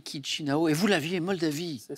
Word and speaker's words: Chișinău: Alors ça s'écrit C-H-I-S-I-N-A-U, hein. Mais on ne dit pas Chișinău, on dit Chișinău.